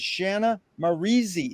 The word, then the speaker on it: Shanna Maurizi: It's an honor and a pleasure to be here with Shanna Maurizi. Is that how you pronounce it?